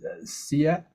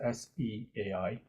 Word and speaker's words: Seia: But you'll be brought to Sia, but it's actually Sia. I can't pronounce it. It's Seia. Or is it Seai? Seia.